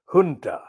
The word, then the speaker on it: junta: It's spelled junta, but it's pronounced in the Spanish, I think, junta.